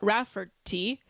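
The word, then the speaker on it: Rafferty: The video is from a protest against the murder of a white farming couple, Glenn and Vida Raferti is how you pronounce it, who were ambushed and shot dead on their premises in 2020.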